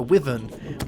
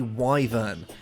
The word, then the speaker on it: wyvern: to think it was called a uh a wyen or a wor or something like that that and I went on these websites you know what it's it's pronounced a wyver so that's uh that's a thing but it's